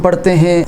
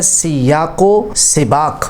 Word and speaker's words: سیاق و سباق: پر تلفظ کرتے ہیں۔ ہم اکثر 'ی' پر فتہ (زبر) استعمال کرتے ہیں، لیکن اس میں 'ی' اور 'دیکھا' کے نیچے کسرہ ہونا چاہیے۔ لفظ " سیاق و سباق" ہے، جس کا مطلب